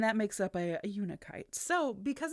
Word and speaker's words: unakite: watch vulva I had to watch uh many a YouTube video to make sure I was saying it right. Uh but it is uniite and it gets its name